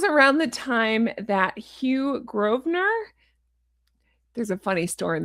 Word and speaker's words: Grosvenor: When I went to London, I didn't know it was pronounced Grosvenor, I thought it was Grosvenor.